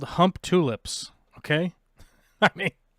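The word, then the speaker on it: Humptulips: Try saying hump tulips, because that's the way you actually say it.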